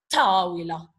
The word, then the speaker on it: الطاولة: Then here, this al is not pronounced. The I sound here is replaced by that sound. It's replaced by the sound of the sun letter. يعني you're going to pronounce the sun letter. So it becomes هذه الطاولة. Notice you are using the tip of the tongue.